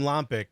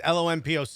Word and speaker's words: Lompoc: i believe you're from lompic am i i don't know if i'm pronounced that correctly love pokemon pork lom poke okay uh for everyone listen it's lon poc you you pronounce that